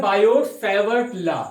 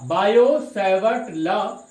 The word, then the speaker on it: Biot–Savart: एक लॉ दिया जिससे बोला जाता है बायोट सेवर्ट लॉ, बायो सेवर्ट लॉ। और यहां पर टी साइलेंट है बेटा, बायो सेवर्ट लॉ।